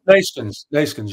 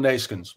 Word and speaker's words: Neeskens: How do you say it? Go on. Neeskens. Johan Neeskens. Neeskens. It's easy, Tim.